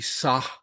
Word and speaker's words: sa: So it's not a wishy-washy sa, it's a hard sa like this.